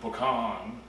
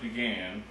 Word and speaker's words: pecan: it is wonderful uh I don't know if y'all pronounce it pean but I pronounce it pan and that's the way